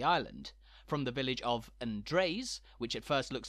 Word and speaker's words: Andreas: places around the island from the village of Andres which at first looks like the Spanish Andreas